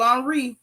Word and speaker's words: Henry: this dude Arielle Henry they spell it Henry you know but they they on Frances now so you know they got to be fancy um Ariel on Reed he is the interim